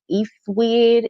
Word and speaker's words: Ecwid: I haven't tested any of their landing page plugins out, but I know that it is a company called Eastwid. It's spelled ECWID.